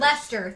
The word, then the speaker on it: Leicester: laughable you were very very good in English Lester thank you Colin Lester um yeah I also